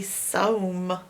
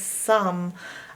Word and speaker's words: some: It's not making the O say O, or it would be soam. If I pronounce this phonetically correct, it would say soam. But it doesn't say that. It says some.